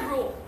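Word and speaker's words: ρ: একটা চিহ্ন দ্বারা প্রকাশিত করা হয় যাকে যার প্রোনাউন্সিয়েশন হচ্ছে রো রো বলতে আর এইচ ও এরকম একটা প্রোনাউন্সিয়েশন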